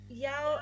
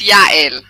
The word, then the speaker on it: Yael: Is it Yal Aina? Am I pronouncing that correct there? No one pronounced it right, but it's okay. It's Yael. Yeah, Yale. Is that it? Never mind. No one says it all correctly. Yale. It's the same as my name as well.